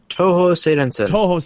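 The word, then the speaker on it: Touhou Seirensen: the anime style game Tuhun, I believe it's pronounced. Toho Seidensen.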